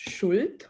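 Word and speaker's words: Schuld: drilling people down actually in german language uh depth is is pronounced shult which is guilt directly right and my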